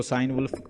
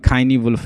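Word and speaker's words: Cynewulf: कुछ लोग इसको साइन वुल्फ पढ़ते हैं, लेकिन इसका नाम मैंने प्रोनाउंसिएशन चेक की थी, ये नोट कर लें, खाइनी वुल्फ इसको कहते हैं, खाइनी वुल्फ है, ठीक है, एल्फ्रेड है।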